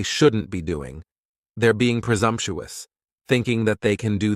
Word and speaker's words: presumptuous: Next is presumptuous, and presumptuous has 4 syllables, and the stress is on that second syllable, and the S almost sounds a little more like a Z.